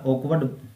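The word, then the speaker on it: awkward: अगला वर्ड है ऑकवर्ड यहां पे आर है वो साइलेंट रहेगा ओकवर्ड इसको लिखेंगे इसको लिखेंगे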